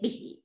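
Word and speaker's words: 笔: Bút nào, bút trong chung đọc là cái gì đây? Bỉ, bỉ nhá, bỉ là bút.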